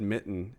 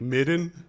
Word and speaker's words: Mitten: Like the one guy, the one cat's name's Mitten, and every time he said Mitten, it bothered me because he didn't say it right. He was like Midden, Midden, hey Midden.